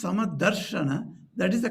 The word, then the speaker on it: समदर्शन: Samadarashana. That ra must be pronounced. Then only the meter can be kept.